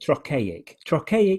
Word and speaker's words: trochaic: Very hard word to say, but trochaic and iambic. And basically what that means, iambic means the second syllable is stressed.